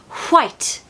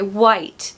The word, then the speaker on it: white: big novelty for her you'll notice the pronunciation of w you at the start of the word here is almost blown out it's it's like white white it's so epic so now we would say white white which is still fine